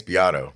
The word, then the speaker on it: Beato: Beto, who's do I say that? I say that guy's name wrong or something. Beto, right? Rick Beto? Beato or Beato? Yeah, I think it's Beato. I think it is Beato.